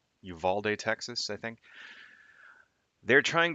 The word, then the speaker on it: Uvalde: So, continuing on with the last couple of streams, we are still talking about the Uvalde shooting and mass shootings in general, but I